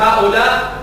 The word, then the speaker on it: هؤلاء: فالكتابة تكتب هؤلاء، تحذف الألف التي لهؤلاء تحذف، لكنها تنطق هؤلاء، فأنت تسمعها لكنها غير مكتوبة.